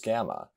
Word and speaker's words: gamma: This letter is gamma. It is pronounced with a hard G, like the word game or gif if you pronounce it correctly.